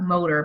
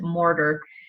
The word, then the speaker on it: Morter: I always want to pronounce that motor, but it's Morter.